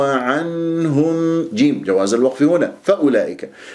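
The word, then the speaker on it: فأولئك: جيب جواز الوقف هنا فاولئك عندك الواو هذه فوق صفر المستدير تكتب ولا تلفظ اذا همزه مظلومه لام فاولا فاولا وليس فاولئك فانتبه عندك اجتمع حرف المد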